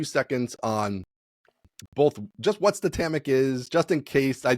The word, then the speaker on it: Statamic: It is pronounced Statamic because it's the word static and dynamic. So if you take those, phonetical components, it's Statamic.